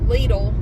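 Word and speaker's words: Lidl: nice so I am headed to leadle guess that is how it's pronounced in the USA every time I utter the word littele somebody has to tell me Well actually actually you're saying it wrong well actually you can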